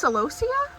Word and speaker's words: celosia: One of my friends gave me, I think it's pronounced celosia.